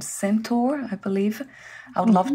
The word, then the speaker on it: Sentur: I would like to mention too that there's an app, it's called FIS-based app called Sentur, I believe.